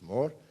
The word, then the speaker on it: Moore: La ley de Moore, que pronuncia Mateo con un acento aragonés, es Moore.